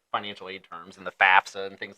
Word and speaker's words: FAFSA: You know, because it's pronounced FAFSA. It's FAFSA. Right. But a lot of people say FAFSA. Right. FASFA.